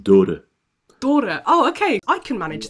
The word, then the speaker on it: Dhoore: second name is pronounced da da oh okay I can manage that I I will do better next time basically like the the H is barely spoken out so it's d h